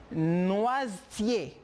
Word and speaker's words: noisetier: La prononciation viene ser noisetier. La E no sale. Por lo tanto, la S viene ser como una Z.